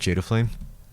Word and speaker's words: Jdaflame: how you pronounce it Jada flame yeah like Jada flame G just say it really fast though don't think too much on the individual words uh yeah so uh